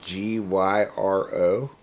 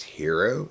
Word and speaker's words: gyro: know how if you that word g-y-r-o it's pronounced hero even though it should be pronounced gyro yeah i thought this